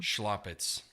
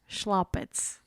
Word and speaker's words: Schlaupitz: us your last name schlopitz slopets if you say it like the old world schlau because it's s-c-h-l-a-uh yeah I always wondered